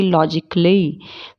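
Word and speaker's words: logically: ए कब साइलेंट होता है? जब उसके लास्ट में ICALLY जुड़ा होता है, उसमें ए साइलेंट होता है, जैसे कि लॉजिकली, फिजिकली, क्रिटिकली। ठीक है, इसमें ए को हम साइलेंट रखेंगे, वरना ए का साउंड नहीं निकलेगा।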